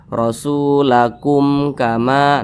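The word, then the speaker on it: رسولكم: Nah, jadi ini dibaca pendek saja. Rasulakum kama. Nah, pendek seperti itu. Jangan ditahan seperti ini. Rasulakum. Nah, jangan ditahan seperti itu. Salah.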